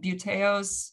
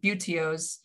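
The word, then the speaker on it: buteos: three major groups um beauteos or i'm pronouncing that wrong butios acipiders and harriers beautios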